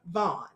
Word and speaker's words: Vann: so with that all been said darren dion vaughn it's spelled the van but it's pronounced vaughn now